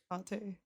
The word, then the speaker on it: Hekate: Hecate? It's Hekate.